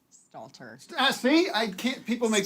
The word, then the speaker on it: Stalter: say Meg blank no I can't Meg St Statler Stalter see I can't people make fun I love her to death St Statler Stalter see Stalter Stalter Stalter Stalter yeah you got it there it is